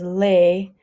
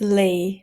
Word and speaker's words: Lei: word Lei like that you wear is often mispronounced as leay as Le it's kind of hard to say